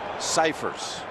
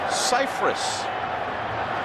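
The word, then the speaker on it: Scifres: and she later got called by a reporter to clarify that actually all these years everyone's pronounced his last name incorrectly. It's Cypress.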